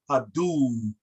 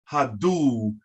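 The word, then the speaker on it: haduw: a d u w that's pronounced hadoo hadoo and the uw is pronounced ooh you carry it a little bit as in the english word soothe or smooth you understand so now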